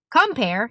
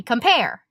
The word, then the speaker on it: compare: happens when you speak you don't say compare you say compare and it's easy to